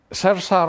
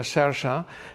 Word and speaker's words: Saoirse: Eh, Sersa Ronan, eh, que en realidad se escribe Saoirse Ronan, se pronuncia Shersha, es una de las actrices actuales también más interesantes.